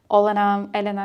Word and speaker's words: Olena: People would come approach me and ask Olena, it's both right way to say my name.